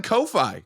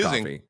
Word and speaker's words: Ko-fi: speaking of 90s movies we're on Kofi coffee Kofi coffee it's pronounced coffee it's pronounced coffee there's